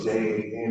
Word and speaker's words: Jan: My name is Jan, spelled J-A-N, it's been pronounced Jan throughout my whole life.